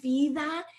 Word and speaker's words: Viva: this product that viva you pronounce it viva and visa is a word in spanish and it literally means